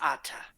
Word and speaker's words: Atta: sense that you think my my name is ata um i'm not a game can you spell that for me yes um ata atta and